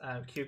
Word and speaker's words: Kew: Filmer David suggests Kew Gardens as Kew Gardens. a good like. Okay. I have never seen Kew Gardens written. I assumed it was the letter, but learn something new every day.